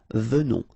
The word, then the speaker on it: venons: Okay, O-N in your nose, on, venons. Nous venons.